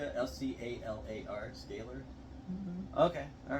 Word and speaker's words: scalar: S-C-A-L-A-R, scalar?